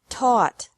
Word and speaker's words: taught: Teach, taught, taught. Think, thought, thought. Remember that the G is silent in these verbs.